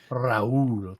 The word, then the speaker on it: Rahul: Rahul, that's how you roll your R. Rahul. There you go. Rahul. No, you do it from the back of your throat.